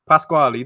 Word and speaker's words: Pasquali: factor between you and I'm so bad at pronouncing it, but I'm going to go Pasquali. Federico Pasquali. Pasquali. There we go. That was perfect.